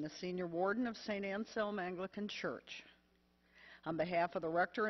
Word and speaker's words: Anselm: Anselm. It's St. Anselm. Like, it rhymes with helm, like helmet.